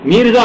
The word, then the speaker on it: میرزا: میرزا مہدی، یہ نہیں ہے مرزا نہیں ہے، میرزا مہدی کیا ہوا؟